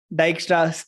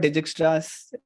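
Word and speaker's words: Dijkstra: it is nothing but dykstra's algorithm it's not digit stress or anything it's basically diagrams where you pronounce pronounce j as y because it is a North European name um just like just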